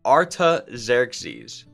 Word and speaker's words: Artaxerxes: is someone called artaxerxes such a cool name pronounced artaxerxes and work is continuing on the temple when